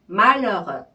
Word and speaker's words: malheureux: 먼저 부분에 u는요. 입술을 오를 조금 크게 벌리신 다음에 에 소리를 낼 때 나는 발음인데요. 이런 소리고요. 뒤에 나오는 뒤에 나오는 u는요. 오를 입술을 또 조금 더 작게 벌린 상태에서 입의 앞부분에서 나오는 에 소리를 낼 때 나는 발음이에요. 그죠? 그래서 이렇게 발음을 하시는 조금 앞에 거보다 뒤에 나오는 부분은 더 작은 예요.